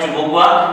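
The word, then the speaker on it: Chubukova: कहीं पे इसको सुबुक्वा लिखा हुआ भी मिलेगा, कोई चुबुक्वा भी, तो वो आगे वाले के ऊपर डिपेंड है। बाकी इसका उच्चारण है वो है चुबुक्वा, कि वो चुबुक्वा की क्या है?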